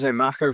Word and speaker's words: Mako: Marco like the shark.